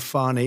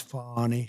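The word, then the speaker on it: Fani: treated you very unfairly she goes by the name of fonnie even though it's F A ni I she wants to pronounce fonnie she's little little French little French accent and her lover and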